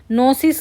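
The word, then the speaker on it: pyknosis: को बोलेंगे हम कनोसिस पी वाई इसमें जो पी वाई है यह साइलेंट हो जाएगा तो इसको बोलेंगे पी वाई के एन ओ एस आई एस तो नोसिस का मींस ये वर्ड्स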